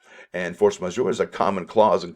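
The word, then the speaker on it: force majeure: a french term and it is uh the pronounced force measure and force major is a common clause in contracts which essentially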